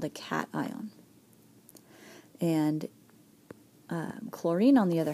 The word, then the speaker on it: cation: We can have a cation. Okay, that's how it's pronounced.